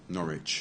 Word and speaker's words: Norwich: not rich not rich just forget the W again again the W is not pronounced Norwich yeah what about this